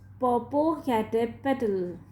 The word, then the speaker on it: Popocatépetl: I know how to pronounce it, said Jen. It is Popocatépetl.